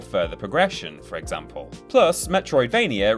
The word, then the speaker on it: Metroidvania: Plus, Metroidvania rhymes with WrestleMania, making it very useful for the annual TripleJump vs Cultaholic beat poem battle.